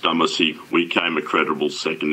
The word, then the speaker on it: Dumesny: MR DUMESNY: It's pronounced Dumesny.